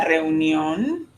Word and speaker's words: reunión: Reunión, tricky word. You see a lot of vowels together. So let's kind of back into it. So from the back, or from the end of the word, the last sound, the syllable, on, On. ion, Ion. neon, Neon. union, Union. reunión.